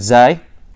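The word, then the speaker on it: زاي: This is the articulation point of sad, sin, and zay. A lot of people say zain, but it's actually pronounced zay in Fusha.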